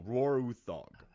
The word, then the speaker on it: Roar Uthaug: saying his name so Roarog so uh they I read the Nordic pronunciations like Roar Utes as Roar Roar uog so I feel good about pronouncing that name but feel positive